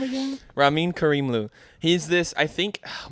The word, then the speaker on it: Ramin Karimlu: His name is Ramin Karimlu.